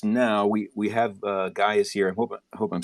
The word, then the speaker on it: Guy: i'm here and yeah guy guy is how you pronounce it so that's uh that's